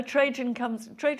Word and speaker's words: Trajan: It's like you share an anecdote about a wax figure of the dead Trajan, if I pronounced that wrong. Trajan, yeah.